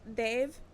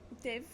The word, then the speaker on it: Dev: But it's pronounced Dave. Dave. Oh, Dave. It's like a It's like a soft D.